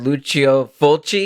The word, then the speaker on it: Lucio Fulci: My my prompt was uh was Italian filmmaker Luchio Fulchi.